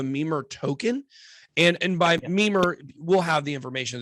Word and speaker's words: Mimir: the uh the memer token and and by mimer we'll have the information in the description and